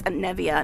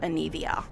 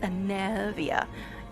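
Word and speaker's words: Anevia: to work all right i gotta remember it's a nevia not anivia i actually do try to pay attention the way things are pronounced unlike some people who are just like i don't know how to pronounce that even the character said it 40 times all right anyway it's a navia it should be easy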